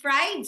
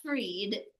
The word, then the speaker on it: Fried: Young's rule and fried rule. I think it's right not freed because it's spelled as right.